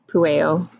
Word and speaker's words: Pueo: Pueo. Pueo. Pueo. That's how you say it. Pueo.